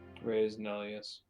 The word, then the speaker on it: res nullius: Some Latin pronunciation. Res nullius.